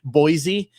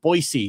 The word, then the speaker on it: Boise: how we all say Boise. And somebody corrected me. They said, bro, it's pronounced Boise, like a hard fucking S.